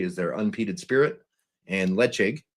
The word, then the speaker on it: Ledaig: One is Tobermory is their unpeated spirit, and Lechig is their peated spirit. So it is spelled Ledaig.